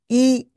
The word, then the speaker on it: 医: donc la médecine déjà la prononciation est très facile c'est i I comme un voilà c'est ça exactement la même prononciation le même ton premier ton i y i vous